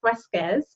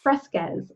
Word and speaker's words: Fresquez: And today I am like fired up about this guest, Fresquez. Am I saying it correctly? Yes. Fresquez.